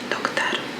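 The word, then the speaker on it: доктор: Doktor. Or brać. Doktor, brać. So, doctor. Bradavich is a cellar or shop assistant. Interesting fact. When the O is not stressed, like in doctor, it is pronounced as A.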